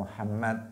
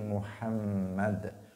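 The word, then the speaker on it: محمد: alam pada lafadz soldi Muhammad itu ada tasydidnya bukan Muhammad tetapi Muhammad Allahumma sholli ala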